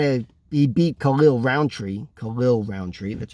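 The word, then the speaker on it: Khalil Rountree: way it kind of he beat khalil roundtree khalil roundtree that's how it's pronounced now and he beat khalil roundtree pretty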